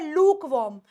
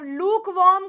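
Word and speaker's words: lukewarm: देती कोसा कोसा पानी इट इज नॉट लूक वर्म इट इ लक वर्म मैं लूक वर्म पानी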